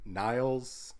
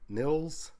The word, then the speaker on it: Nils: the artwork everything and niles or not nils hits and hits and